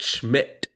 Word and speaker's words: Schmidt: Is Nate shit? Is Nate shit? I'm not disrespecting him. I just mispronounced. Nate Schmidt.